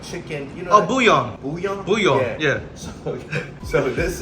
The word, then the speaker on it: bouillon: Oh, bouillon.